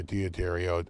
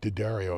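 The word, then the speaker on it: D'Addario: And it's always either Diodario or Didario, as I found out they're pronounced, or Ernie Ball right now, but mainly using Ernie Ball.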